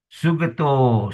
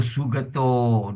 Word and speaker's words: sugato: So the hole be pronounced as long O. Correct? So here, the example in Pali, the word will be sugato, sugato, Sugato, loka vidu, loka vidu, again the loka, So sugato, don't say sugato.